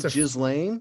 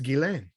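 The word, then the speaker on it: Ghislaine: jizz Lane no it's gilen and no one's pronounced I'm a thousand percent correct I I so yeah I uh my background is I'm French and it's a French Belgian name and it's again and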